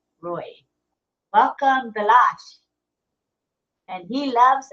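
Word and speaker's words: Ray: the room bilash Roy it's spelled r a y but he he pronounces it Roy Roy welcome bash and he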